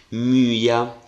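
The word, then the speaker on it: μυῖα: dittongo Infatti io vedete l'accento l'ho scritto sul secondo elemento Ma leggo come se cadesse nel primo quindi myia notate anche che cosa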